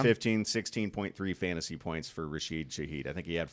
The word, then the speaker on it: Rashid Shaheed: Was that Rashid Shaheed? Probably mispronounced that because that's No, what I you did.